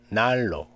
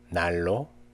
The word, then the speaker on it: 난로: Nian is pronounced as rear before or after rear. Actually, it's very easy. Let's see the examples. 난로, 난로.